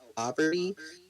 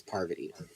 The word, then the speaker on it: Parvati: Oh, Poverty." No, and she would just be like, "It's Parvati." So, Yeah, but I mean, if anyways, people, it all comes down to intention, right?